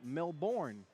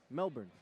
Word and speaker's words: Melbourne: uh west melbourne stateside i know y'all used to americans saying uh melbourne yeah but i got some australian help melbourne oh how you like